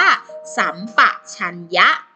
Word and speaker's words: สัมปชัญญะ: กัน สัมปชัญญะ อ่าน ว่า สัมปชัญญะ อ่า เขียน 3 แบบ นี้ แต่ เวลา อ่าน ออก เสียง ออก เสียง เป็น สระ อำ นั่น เอง สัมผัส เขียน แบบ